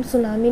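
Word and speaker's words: tsunami: जैसे कि इंग्लिश में हम सुनामी लिखते हैं बट टी साइलेंट है, ऐसे ही इसमें जब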